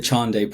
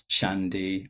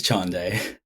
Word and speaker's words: Chande: It's the the Chandai Project. That's Ch H A N D E, which often gets mispronounced as Chandi or Chand. Yeah, it's Chandai.